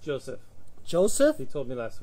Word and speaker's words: Joseph: It's pronounced Joseph.